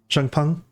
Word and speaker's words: Zhang Peng: Zhang Peng? I mean, is how his name's pronounced.